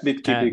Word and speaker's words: Bitkipi: Yeah, Bitkipi, correct.